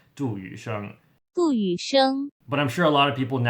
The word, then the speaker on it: Yusheng: So his name in Chinese, you move the last name to the front, and then in Chinese it's pronounced Yusheng.